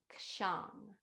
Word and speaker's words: kshang: And the syllable we'll chant is kshang. It's spelled K like kangaroo, SHANG, kshang.